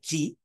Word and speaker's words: ki: Right, and he says you must make sure to pronounce the long vowel chirik, right, in the word ki correctly, like ki, so it does not sound like we are saying kilolam.